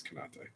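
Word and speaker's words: Konaté: It's Konate.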